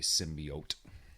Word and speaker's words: symbiote: But they're following the symbiot story line, not the or as they say it in the movie, symbiote. Yeah, that's how you say it.